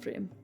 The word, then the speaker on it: Prim: You're just getting my name wrong in a dating sim. It's cool. Prim. Prim. It's Prim.